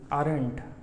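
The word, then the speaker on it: aren't: और आर ने जो है नॉट के साथ भी शॉर्ट फॉर्म बनाया, ये देखिए, इसका उच्चारण करेंगे आरंट, यू आरंट वर्किंग।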